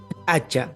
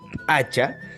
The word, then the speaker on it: p'acha: destino vamos a ir con el título hacha hacha con esta pronunciación hacha sí hace referencia a la prenda En otras